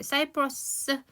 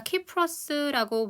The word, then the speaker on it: 사이프러스: 여기다가 소재 사이프러스 우리가 키프러스라고 보통 얘기를 하는데요. 저는 그냥 사이프러스라고 읽겠습니다.